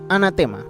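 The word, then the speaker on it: ἀνάθεμα: palabra anatema viene de una palabra griega que se pronuncia anatema es la misma palabra como la conocemos y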